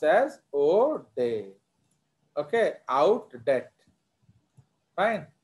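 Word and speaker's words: Oudet: It is pronounced as O'Day.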